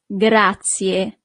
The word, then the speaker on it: grazie: Thank you is grazie. Grazie. So you really need to pronounce the last letter, I in English, but the letter I in Italian is E.